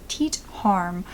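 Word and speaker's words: Teet Härm: This man was a pathologist named Teet Harm, or at least that's what I believe the pronunciation would be, and he worked at a forensics laboratory.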